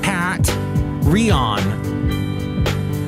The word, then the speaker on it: Patreon: If you'd like to find out more about her, Patreon is spelt like Pat Rion.